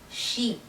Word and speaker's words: chic: you pronounce this word the ch makes a sh sound not a ch sound it's a sh and the last c makes a k sound chic the next word is